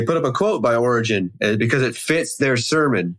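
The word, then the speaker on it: Origen: I think it's Origin or Oregon. Origin. Is that right? Origin. I say Origin. Otherwise, It just sounds like a state. But they put up a quote by Origin because it fits their sermon.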